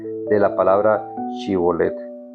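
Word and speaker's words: שִׁבֹּלֶת: pronunciación de la palabra Shibolet. Efraín no podía pronunciar la palabra shibolet y en cambio decía cibolet.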